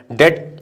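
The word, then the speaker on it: debt: डेट, अच्छा B silent होता है, इसको डेप्ट नहीं बोलते, डेट बोलते, डेट, राइट।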